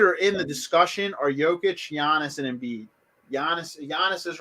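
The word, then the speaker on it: Jokić: It's a J, but it's pronounced like a Y. Jokic, yeah.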